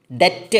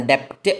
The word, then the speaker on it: debt: വേർഡിൻ്റെ അവസാനം വരുമ്പോൾ, അല്ല BT എന്ന് പറയുന്ന ഒരു വേർഡിൻ്റെ അവസാനം വരുമ്പോൾ അത് ഉച്ചരിക്കില്ല. ഫോർ എക്സാമ്പിൾ, thumb, THUMB എന്ന് പറയുന്നത് thumb എന്നാണ് ഉച്ചാരണം, തമ്പ് എന്നല്ല, thumb. അതുപോലെ BOMB, ബോം എന്നാണ് ഉച്ചാരണം, ബോംബ് എന്നല്ല. DEBT, ഡെറ്റ് എന്നാണ് ഉച്ചാരണം, ഡെപ്റ്റ് എന്നല്ല.